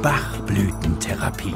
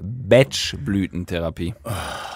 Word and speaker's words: Bachblütentherapie: und Ärzte die Bachblütentherapie Stopp Markus das heißt bchblütentherapie ja aber die alte sagt auch Bachblüten ist trotzdem falsch das heißt B Blütentherapie m seid e klugscheiße e wirklich hat damit nichts zu tun das heißt einfach so BCH Blütentherapie ja okay die BCH